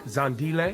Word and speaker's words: Zandile: Your name, I'm gonna try to pronounce it. Amala. Amala, perfect. Ratna. Okay, yep. That's pretty good. Yeah. Zandile.